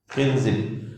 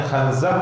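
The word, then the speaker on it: خنزب: Khinzib. Atau ulama bacanya khanzab atau khinzab.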